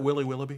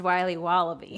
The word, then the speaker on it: Wiley Wallaby: a piece of that willy willoughby wally wibbly wily's wallabies wallaby wallies will be wobbly it's pronounced wiley wallaby well it's very good